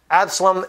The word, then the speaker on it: Absalom: Absalom is how you say it in English. Avshalom is how you say it in Hebrew, his name, which means my father is peace.